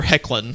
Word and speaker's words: Hoechlin: It's Tyler Hoechlin. That is how you pronounce his name.